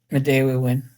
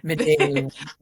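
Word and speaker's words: Midewiwin: about so it's so you're a fourth degree Midawinwin woman. Did I pronounce that correctly? Midday win. Okay. Midday win.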